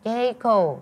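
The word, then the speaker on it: J.CO: Jeko.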